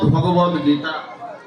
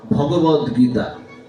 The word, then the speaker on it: ভগবত গীতা: শ্রীমদ ভগবত গীতা। যদি আপনি ভাগবত গীতা বলে ফেললেন তাহলে কিন্তু উচ্চারণটা ভুল হয়ে গেল।